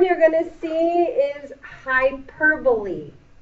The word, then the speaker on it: hyperbole: going to see is hyperbole this word ends just like simile with a long e a lot of people will pronounce this as hyperbowl nope it's hyperboy L the l e makes